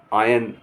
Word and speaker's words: iron: IRON, आयन। आयन माने लोहा। आयरन लिखा जाएगा लेकिन कहेंगे आयन।